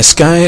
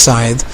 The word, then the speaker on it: scythe: see i've equipped my sky or scythe sorry it's bad habit and i know it's pronounced scythe now we're gonna go